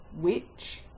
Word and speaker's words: which: The first set of words that have a silent H are the question hand words when, which, why, where, and what.